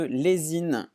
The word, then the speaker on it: Lezhin: Il s'agit de Lezine. Lezine qui est donc une plateforme, là ça s'écrit Lezhin.